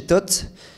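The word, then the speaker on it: THOT: J'aimerais donner la parole à Jennifer, Jennifer Leblon, qui travaille chez Tot. Tu vas peut-être nous raconter ce qu'est Tot. On va dire qu'elle est engagée. Bonsoir. Donc TOT, ça s'écrit T-H-O-T, pour transmettre un horizon à tous.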